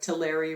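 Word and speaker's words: Tulare: the major commodities are tillery rhymes with dairy so it's always milk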